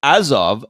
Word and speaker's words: Azov: It's like it's pronounced Azov.